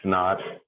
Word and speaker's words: naught: that's just the pronunciation when you see a subscript zero we use the old english term quite often so when you hear people say like x naught or t naught that's